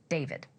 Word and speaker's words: D4vd: and much older boyfriend, the singer known as David. While his stage name is spelled with a 4, his legal name is David Anthony Burke, plain and simple.